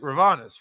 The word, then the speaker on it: Ranos: last name pronounced before in my head it was when I read it it's always Ranos yeah but you said it like ranas right yeah so I mean you you pronounce it in your head the correct Greek way my pronunciation is informed by growing up in Alabama oh got it got